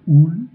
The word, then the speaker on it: ul: Le u se prononce “ou”, comme dans “ul”, le “cœur”.